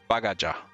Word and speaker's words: Bagaja: Bagaja. So it's just the J is pronounced. It's not like the Spanish silent J. It's pronounced. Ethiopia.